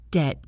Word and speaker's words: debt: Two words, debt and doubt, both have silent B sounds added by Renaissance scholars trying to show off the Latin connections.